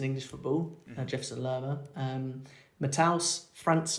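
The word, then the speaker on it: Matheus França: football Jefferson learner um mataus France I believe is how it's pronounced but I may have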